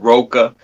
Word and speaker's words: Roka: my name wrong with ROKA. It's ROKA. Like you say rock, like rock, and just put an A behind it.